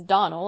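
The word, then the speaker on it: Donnell: i can assure you the name is donal and always has been the woman is crazy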